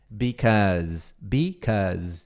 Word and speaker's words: because: Aí é because, because com som de Z.